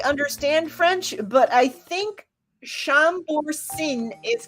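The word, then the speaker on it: Chambourcin: c i n i don't know how you pronounce that shambor shambor I don't know moons Mooney has all kinds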